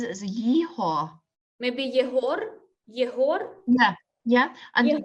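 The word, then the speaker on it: Єгор: they've and they've translated it in German to Igor, so with the g sound instead of the h, and at the beginning with an e sound instead of a y.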